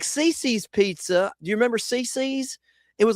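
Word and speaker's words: CiCi's: Do you remember Cece's? It was like a kids all-you-can-eat style pizzeria. I don't think they're around anymore. It's spelled C-I-C-I, Cece's Pizza.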